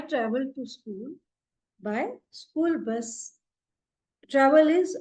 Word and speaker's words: Bus: Bus is Bus in German. Though the spelling is same, but the pronunciation will be Bus.